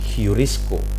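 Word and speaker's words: εὑρίσκω: Ini ini bunyinya H. Jadi bunyinya adalah heurisco. Heurisco.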